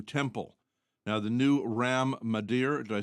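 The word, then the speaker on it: Mandir: massive new Hindu temple now the new Ram Mader did I say it right mandere yeah m Temple dedicated to Hindu god Rah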